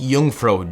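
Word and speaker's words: Jungfrau: search it up info i think it's pronounced jungfro j-u-n-g-f-r-a-u so after skydiving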